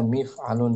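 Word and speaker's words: مِفْعَلٌ: Bahwasanya mif'alun salah satunya saja itu bahwasanya mif'alun di kasrah mimnya mi gitu bacanya.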